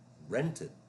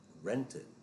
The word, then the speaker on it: rented: lived rented rented Ends in a T, so the ED is a separate syllable.